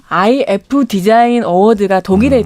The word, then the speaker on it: iF: 거기서도 그래픽 디자인상을 받았고 하나 더 이제 더 유명한 이걸 이프라고 읽으면 안 된다고 하더라고요. IF 디자인 어워드가 독일에 또 있는데 네.